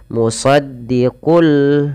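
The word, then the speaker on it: مُصَدِّقٌ لِّمَا: Idgham berarti menggabungkan; Cara membacanya adalah dengan menggabungkan tanwin ke dalam huruf lam. " Musaddiqul" lalu lepaskan.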